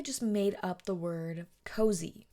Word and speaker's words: Koze: brand called called so it's pronounced cozy but it's spelled k o z e and she was selling